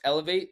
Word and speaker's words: Elevate: Is it pronounced Elevate, the company? yeah. ELVT for short, but yeah, Elevate, yeah.